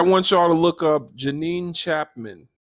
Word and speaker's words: Janine: Everybody, I want y'all to look up Janine Chapman. With a J. It's like, Billie Jean. It's spelled like Jean and then EAN again.